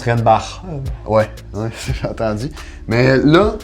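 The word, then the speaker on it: Reinbacher: Puis Renbacker, là. Ok, ouais. D'ailleurs, ça se prononce Renbach.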